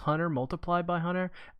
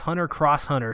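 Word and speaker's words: Hunter × Hunter: you're joking or not it's pronounced hunter x hunter actually you're wrong it's hunter Cross hunter Sony confirmed it Sony came out and they said it's not an X it's a cross just watch the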